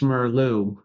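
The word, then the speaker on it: Meerloo: a book that was written by Dr UST merlu UST is spelled uh j o o s t and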